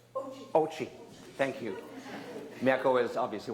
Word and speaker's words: Ouchi: Welcome to B4Play for our next production, Burning Mom, by Mieko Ouchi. Oh, I didn't say it right. Ouchi.